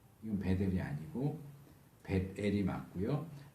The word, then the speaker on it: 벧엘: 이건 베델이 아니고 벳엘이 맞고요. 정확하게 히브리식으로 말하면 베트엘이죠. 왜냐하면 트 발음은 받침으로 사용되지 않기 때문에 베트엘. 우리한테는 좀 생소하지만 베트엘이 가장 정확한 발음이고 우리에게 익숙한 발음으로 하면 벳엘. 베델은 아니에요.